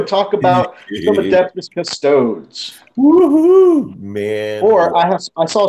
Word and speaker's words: Custodes: Let's go ahead and talk about some Adeptus Custodes. Woohoo, man! Or I saw somebody get corrected on another channel because they didn't pronounce it Britishly enough.